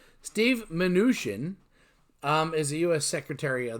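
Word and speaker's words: Mnuchin: serving it later our next fella is Steve manoosh in that by reading it and not hearing it pronounced is usually tough to pronounce Steve manoosh in is a US Secretary of the Treasury that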